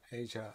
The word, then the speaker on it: Azure: microsoft azure or asia as they often pronounce it is microsoft's cloud service